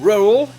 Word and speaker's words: rural: Le mot rural, avec ses deux syllabes pas vraiment différenciables, est considéré comme un mot dur à prononcer ou juste à comprendre.